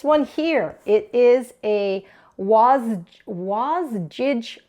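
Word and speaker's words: Wasgij: here it is a was was jig puzzle I think that's how it's pronounced it's jigsaw backwards now this is a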